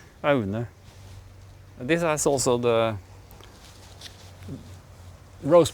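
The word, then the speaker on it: Aune: We've got a couple of mittens here, and these are called ARNE, A-U-N-E, and A-U in Norwegian is pronounced O. So ARNE. ARNE.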